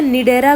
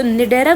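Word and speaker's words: Cnidaria: तो निडेरा ग्रुप जो है स्पेलिंग देखो इसकी सी एन आई डी ई आर ए निडेरा group जो है उसके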